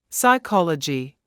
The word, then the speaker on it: psychology: some things to remember p is silent at the beginning of a few words listen and repeat psychology pneumonia psychiatrist the word